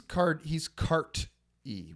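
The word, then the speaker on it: Carti: But he's Cart-E with a T. Oh, okay. And that's how it's pronounced.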